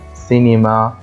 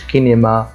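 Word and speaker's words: cinéma: حرف الاس فبقول ليس زي كمان سينيما سينيما كمان ما قلتش كينما ليه؟ لان حرف السوقع بعديه حرف الاي اللي هو الاي بالانجلش بقول ايه؟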